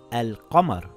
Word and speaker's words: القمر: If there is a moon letter after the alif lam, you pronounce the lam. For example, it reads as al-qamar and nothing changes.